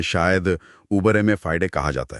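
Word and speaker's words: uberrimae fidei: जैसे कानूनी भाषा में शायद उबरे में फाइडे कहा जाता है। अरे वाह आपका उच्चारण तो बहुत सटीक है। हां उबरे माय फाइडे।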